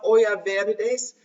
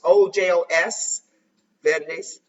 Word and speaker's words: Ojos Verdes: Do you know the song "Olla Verdes," Green Eyes? If that's an authentic song from Spain or South America? I don't know. Ojo, I didn't maybe not pronounce it right. It's Ojos Verdes, Green Eyes.